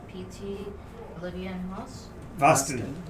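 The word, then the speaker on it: Vasti: rhymes with Boston. Yes, but it starts with a V. But it's spelled V-A-S-T-I.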